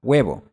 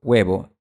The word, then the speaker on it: huevo: Si te fijas bien, cuando pronuncio huevo, no estoy poniendo mis labios en posición redondeada como cuando pronuncio la palabra un. Huevo. Un. Esto es porque es un sonido diferente y lo puedes ver hasta en la forma de la boca.